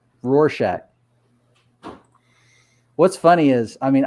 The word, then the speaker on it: Rorschach: out thank you patty rorsack is is rhymes with horse shack rorschach what's funny is i